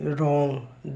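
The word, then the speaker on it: wrong: से पहले एस के बाद डब्लू साइलेंट होता है जैसे डब्लू आर ओ एन जी रंग डब्लू आर आई टी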